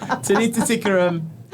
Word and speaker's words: Tanita Tikaram: Tanita Tikaram.